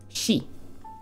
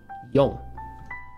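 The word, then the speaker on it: 四: And how do we pronounce it? Shi. Or, there's a second pronunciation. Yong.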